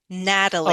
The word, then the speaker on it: Natalie: Try with a D sound. It's like a D. Natalie.